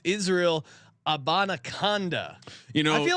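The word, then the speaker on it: Izzy Abanikanda: Sean here to help you pronouncing Izzy A on the Jets. It's Israel Abanaconda.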